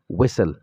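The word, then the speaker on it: whistle: څخه مخکې ټي راغلی بل یو کلمه درته وایم چې دا ویسل په ویسل کې هم دغه ټي نه تلفظ کېږي خلټي څخه وروسته نور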